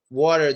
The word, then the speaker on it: water: When I go to the US and ask water, they don't understand me. Say water. Use a D sound. Water. Don't say water. No, say water. Water. That will help a lot.